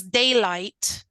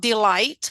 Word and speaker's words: daylight: So here is daylight. Daylight, like day and light. Daylight. Yeah. Okay. Okay. Not delight, which is different. Yeah, it is written different as well.